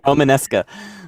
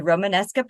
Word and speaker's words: Romanesca: It uses something called you want to pronounce that for me, Myzak? I can't. Romanesca.